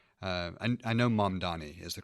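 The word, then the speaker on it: Mamdani: Mondani. Uh I I know Mondani is the correct pronunciation for his last name.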